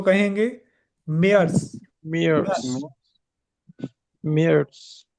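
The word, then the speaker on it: Mai: और मार्च को कहेंगे मेयर्स मेयर्स मेयर्स या मेयर्स मेयर्स मेयर्स या मेयर्स अप्रैल और अप्रैल को कहेंगे अप्रैल अप्रैल अप्रैल और मई को कहेंगे माय सिंपली माय ठीक है माय इंग्लिश वाला माय माय यूनी या यूननी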